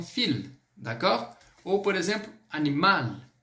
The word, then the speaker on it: animal: Ou, por exemplo, animal. Animal, eu pronuncio esse L.